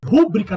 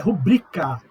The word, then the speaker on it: rubrica: Rúbrica, não tem acento, é rubrica.